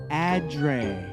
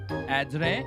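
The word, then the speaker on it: adret: Today's word of the day is adre. Adre. Adre. Adre. Adre. Adre. Adre. A silent t. The t is silent.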